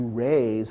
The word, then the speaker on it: raze: Here are two words that sound the same, but actually have opposite meanings. To raise, spelled R-A-I-S-E, means to lift up. To raze, R-A-Z-E, means to tear down.